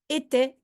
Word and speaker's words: était: You see a lot of vowels there, but they are pronounced exactly in the same way. Était, était.